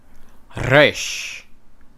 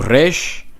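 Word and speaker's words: ריש: Now this is a rolling R. Now modern Hebrew, how the Jews and Israelis pronounce it, is resh. They pronounce it like the French R. Resh, which is at the back.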